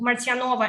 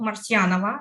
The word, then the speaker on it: Martyanova: years in Poland and that's why I told martinova and not Marciano I already got used to polish pronunciation I believe yeah and I'm leading